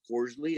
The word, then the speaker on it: Costley: spelled his name correctly his last name was costly c-o-s-t-l-e-y he probably pronounced it with a long o as cordially and people just wrote